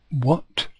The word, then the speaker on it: what: it is halfast 4 the H is silent there's the H this